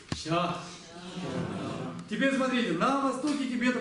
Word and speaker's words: ཞ: Это записывается как ZHA, то есть ZHA скорее, если уж на то пошло. И он в низком тоне, и он произносится как ща.